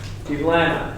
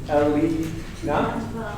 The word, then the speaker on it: Evelina: Ivlana, did I say that right? Lead, say it again. And break it down by syllable. Evelina.